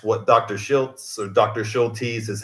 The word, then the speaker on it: Schultes: Schultes is how we pronounced it.